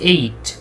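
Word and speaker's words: ate: দেখেন, এই যে আমরা অনেকে ইট অ্যাট ইটেন বলি, এটার উচ্চারণ হচ্ছে এইট, এইট।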